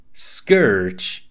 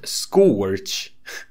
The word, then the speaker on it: Scourge: Now, I don't mean to be everyone's English teacher right now, but I do believe you're supposed to say Scourge, not Scorch.